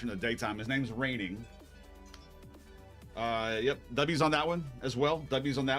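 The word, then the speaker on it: Reigning: Raining is spelled R E I I G N I N G I I want to say is how it's said.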